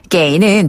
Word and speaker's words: 给: 그다음에 게이는 주다란 뜻이 있어요. 줄 급자인데 게이라고 발음해요. 게이.